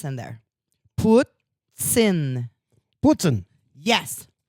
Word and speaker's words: poutine: It's poutine. No, it's Put an S in there. It's Poot-tsin. Poot-tsin. See, that was wonderful. He poots it in. Poot-tsin. He poots it in his mouth. But that's how you say it.